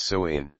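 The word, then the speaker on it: Samhain: ancient Celtic Festival of Sam hay pronounced soain the selts who lived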